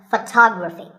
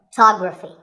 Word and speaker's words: photography: we say photograph but photography so the first syllable becomes and the stress goes to the second syllable photography so photography in the same way